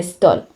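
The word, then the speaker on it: Stoll: hijos con el apellido stol se pronuncia igual que stall pretérito del verbo Steel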